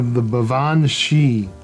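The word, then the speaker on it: Baobhan Sith: The Bavan Shi, which is spelled in English Balban Sith, but it's not.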